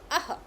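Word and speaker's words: ः: We pronounce um, and this one we pronounce aha.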